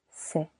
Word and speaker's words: sait: Il on sait silent t il on sait il elle on sait silent t nous savons.